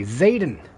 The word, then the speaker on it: Zetan: that word z z zetan zetan how to pronounce z t an how to pronounce okay I'm gonna test this out real quick Zen Zaden Zaden okay Zaden good to know Raiders thought we were